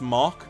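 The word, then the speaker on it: Mach: moving on uh JD Mack says Hey North you say ma but it's pronounced mock is it mock like mock five you know what I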